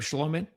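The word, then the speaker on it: Schlottmann: Oh, is that how you pronounce his name? Schlomman. Yeah, Schlotman. Okay. No T's. That's silent. Okay.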